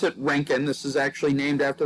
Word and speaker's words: Roentgen: So the Roentgen, and you pronounce it Roentgen, this is actually named after the man who discovered X-rays, Wilhelm Roentgen.